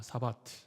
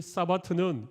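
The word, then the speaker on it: שבת: 사바트. 네. 히브리어가 나와 있는데 그건 좀 무시하고, 아무튼 이 히브리어를 읽으면 사바트, 그렇게 발음이 되는데, 이 사바트는 일을 멈추다, 그런 의미입니다.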